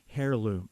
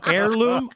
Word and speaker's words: heirloom: use of that family hairloom I'm sorry that's a silent h that's heirloom I'm sorry that's my